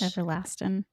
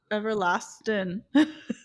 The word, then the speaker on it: Everlastin: Everlastin. Maybe. How do you say it? Everlastin.